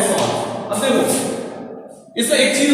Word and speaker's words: Schwann: और cell theory में क्या क्या होगा, देखो सेल थ्योरी में सॉन की स्पेलिंग SCHWANN है, सॉन।